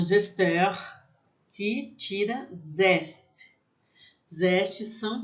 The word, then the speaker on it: zesteur: Então, mas eu vou falar para vocês, o nome do utensílio seria zesteur. Mas a gente não utiliza essa palavra. Mesmo eu, que sei falar a palavra correta lá no Senac, eu chamo de zester, tá? Que é o que a gente chama aqui. A gente aportuguesou para zester, que faz zeste.